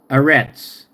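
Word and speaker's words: ארץ: going land okay that's what it is is arets land of Israel is arets so anet okay is a stop okay a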